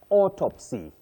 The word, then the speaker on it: autopsy: A and u combine to form the long sound or autopsy authorize automatic not automatic just like the word August.